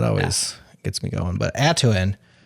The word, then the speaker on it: Atuin: I mean, how's did you are you pronouncing it atuin? Atuen. Yeah. Atuen. Kind of like Tatooine. Pretty close actually.